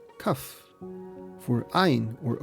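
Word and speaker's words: כף: For Kaf, or K, they drew the palm of a hand, which is pronounced Kaf.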